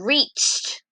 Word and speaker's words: reached: Alright, reached. What sound do you hear at the end? T, t, t. Talking test.